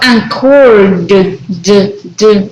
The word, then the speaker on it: anchored: Also, anchored, right? Remember the D sound at the end there.